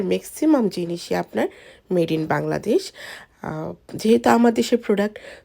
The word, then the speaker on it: Bangladesh: এই যে ধরেন আপনাদেরকে দেখাচ্ছি, এই কাপড়টার ট্যাগের পিছনে লেখা আছে যে মেড ইন বাংলাদেশু, এখানে এভাবে উচ্চারণ করে।